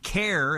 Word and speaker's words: CAIR: CAIR is how people pronounce it, C-A-I-R.